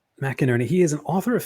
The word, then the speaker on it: McInerny: and writers today we are joined by mcinerney am I pronouncing that right you are mcinerney mcinerney he is an author of fiction for both